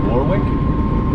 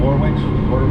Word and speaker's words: Warwick: we are headed to i believe it's pronounced warwick connecticut and warwick warwick um so let's pick